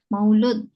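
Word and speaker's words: مولود: Maulud ya ma eh Maulud atau Maulid Maulid Rasul Maulud yang benar Maulud ya Maulud atau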